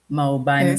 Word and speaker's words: Maubane: I'm hoping I'm actually pronouncing your name well, Maubane.